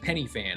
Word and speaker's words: Pen y Fan: Oh, it's pronounced penny fan.